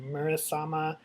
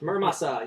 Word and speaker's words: Muramasa: And it came out on Tuesday, and it's called Murasama Rebirth. Muramasa Rebirth. Muramasa. Yeah, it's Mura- really pretty Mura- from yeah. Vanillaware. I pronounced that wrong, I guess, but that game looks Beautiful.